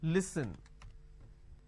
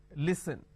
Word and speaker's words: listen: For example, listen. E, s, li. So let me add a dash after that so that it's easier for you to understand. Okay, it's pronounced at li, s, n. Listen.